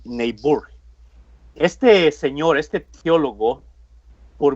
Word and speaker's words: Niebuhr: los he pronunciando bien él reinholz reinhold pero el apellido es neighbor este señor este teólogo